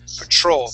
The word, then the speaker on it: patrol: Patrol patrolling Patrol patrolling so the the mistake is the T don't say the like you like you yes P Petro you treat it more like a CH we say Patrol patrolling that's how we would say that Petro petum perfect petroleum